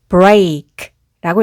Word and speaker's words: break: 부수다는 뜻의 이 단어는 여기 EA가 A로 소리가 나서 break라고 읽습니다.